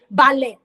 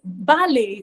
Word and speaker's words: ballet: I want to learn I'm not going to say ballet no that is not the pronunciation it is balet or ballet you know it depends on you know whether it's American um English pronunciation or British English pronunciation but even